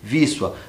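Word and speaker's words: Wisła: primeiro para vocês né O o tal do wisla né is se lê vissa mas é são detalhes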